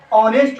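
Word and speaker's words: honest: और ओ क्या है, यहाँ पर ओ जो है वो आ से शुरू होता है, आ से, ऑनेस्ट होता है, ऑनेस्ट। और एच इसमें साइलेंट है, तो क्या है, ऑनेस्ट करा, ऑनेस्ट, हम इसको ऑनेस्ट पढ़ते हैं।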